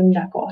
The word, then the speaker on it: knuckle: We have that K-N digraph. Okay. That K is silent.